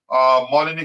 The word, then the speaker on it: Molineux: The Blues are winless in 3 previous visits to Molineux, is how you pronounce that stadium, drawing 1 and losing 2.